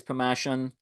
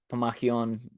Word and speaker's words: Pammachon: So that's kind of like a overview of like what is Pammachon, um, and kind of, or Pammachon, depending on how we pronounce it there, and just kind of want